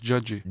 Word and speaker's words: Di: C'est écrit comme ça avec DI, mais ça se prononce Jud.